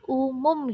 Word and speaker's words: Oemoem: Ini ejaan dulu, Nak. OE itu dibacanya U. Jadi umum gitu bacanya.